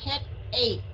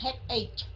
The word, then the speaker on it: headache: Tại chữ CH ở phía sau nó ra cái âm K. Và cái âm Y á, không có đọc. Thành ra mình sẽ đọc là headache. Ok? Headache. Right, chứ không có phải là headache. Không phải là CH nha, mà là K.